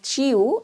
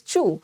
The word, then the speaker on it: chew: This word does not produce EU sound. इसमें EU sound नहीं आती है, इसमें U sound आती है. So the right pronunciation of this word is not chew, it is chew.